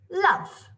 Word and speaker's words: love: i would spell it it sounds like there should be an uh so we've got to